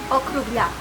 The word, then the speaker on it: Okrugljak: Okrugljak.